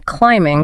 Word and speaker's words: climbing: The P in receipt, the L in salmon, the B in climbing.